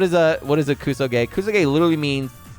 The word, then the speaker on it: kusoge: often uh what is the word it's it's kuso gay kuso gay right multiple people ask me hey what's kusu